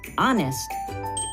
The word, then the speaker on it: honest: In this word, honest, we do not pronounce the H at the beginning.